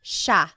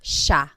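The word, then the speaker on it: siya: it should be pronounced CIA but it's actually pronounced Sha Sha there are some regions in the Philippines that might pronounce Ita but for the most part in the central Lon talog speaking areas it's pronounced Sha Sha next Sil is theyo is we inclusive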